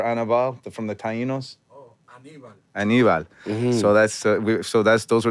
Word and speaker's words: Aníbal: Ramirez as Julio, and Dominic Colon, who played Annabelle. Can you say it, Renee? How do you say the name? Annabelle? Remember Annabelle from the Taínos? Oh, Aníbal.